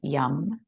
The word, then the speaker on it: yam: If you'd like to join me in the seed sound for the heart space, it is yam, but we usually just say yum. It's spelled Y-A-M, but we say yum, like yummy.